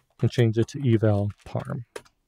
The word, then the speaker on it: parm: change it to eval parm. And parm is spelled parm with an R, not Pam.